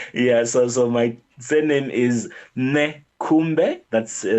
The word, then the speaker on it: Nekhumbe: So my surname is Nekhumbe. That's spelled N for November, Okay.